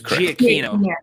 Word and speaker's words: Giacchino: It's Giacchino. Giacchino? Okay. It's Italian, obviously. Well, it just hurt me. Different emphasis and different syllables.